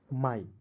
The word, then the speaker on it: my: अब कहिएगा सर कैसे, तो मैं यहाँ पे लिख रहा हूँ MY, क्या पढ़ेंगे, एम का म, अंतिम में वाई आया तो इसका उच्चारण आई के रूप में करेंगे तो हो गया माई, समझ गए।